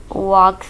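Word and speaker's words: walk: वॉक slowly, वॉक slowly, इसमें L silent है।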